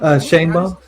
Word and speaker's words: Sheinbaum: Sheinbaum. Sheinbaum. Is that her last name? Yeah, that's her last name. Her first name is Claudia. Claudia Sheinbaum. I ain't gonna lie to you. Sheinbaum is a weird name for a Mexican.